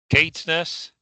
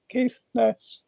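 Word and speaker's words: Caithness: Kateness, cafness. Kateness, cafness. Kafness. So first or second emphasis on sorry I can't pronounce my th's very well. Uh kafness. So the second one sounds better.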